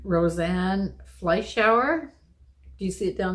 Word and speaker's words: Fleischauer: Germany, kind of, whatever. Fleischauer? Yeah. Fleischauer. But she may not pronounce it in a German accent.